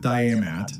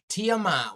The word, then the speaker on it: Tiamat: Then Nibiru collides with Diamat, a planet that once existed between Mars and Tiamat. Why can't this guy pronounce the names right?